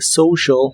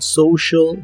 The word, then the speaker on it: social: La O de social se pronuncia como OU y la E de media se pronuncia como I, on social media, on social media.